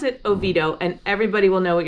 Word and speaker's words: Oviedo: maybe a different language we don't need all those extra syllables so if you want to sound like a local pronounce it oviedo and everybody will know